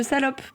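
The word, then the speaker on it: Salaupe: Il s'agit du village de Salope. Mais ça s'écrit pas comme comme le grand mot. Ça s'écrit Salope, S-A-L-A-U-P-E, qui est situé en Moselle.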